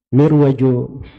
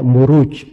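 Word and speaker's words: مروج: saya enggak ngerti juga Kok dibaca mirwajud dahahab ya kalau dari Raja ruju itu bukan mirwaj bacanya harusnya marwaj sebab bukunya kan setelahnya wadin aljauhar itu kalau di bahasa Arab gak dibaca mirwaj tapi dibaca muruj jamak dari marjun marajuju itu ada di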